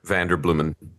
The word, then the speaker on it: Vanderbloemen: Uh, and the answer is I'll give you the Americanized exodact pronunciation of the name and it's uh like flowers. Vander Bluman just blooming like flowers.